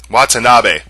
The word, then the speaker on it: Watanabe: Oh, it's Ken Watanabe, or Watanabe. That's how you pronounce it.